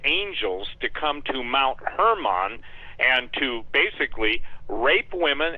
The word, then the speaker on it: Hermon: It's pronounced Mount Hermon, HDL with a long R, I guess, Hermon.